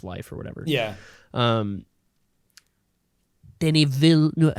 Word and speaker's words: Villeneuve: Denis Villeneuve. How do you pronounce his last name?